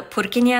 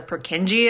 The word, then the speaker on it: Purkinje: there's something called the purin effect uh commonly mispronounced as the pereni effect though but it was named after the Czech anatomist of the same name and the whole reason